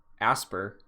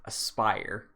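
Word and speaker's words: Aspyr: haven't pronounced it uh a-s-p-y-r is pronounced aspire which makes so much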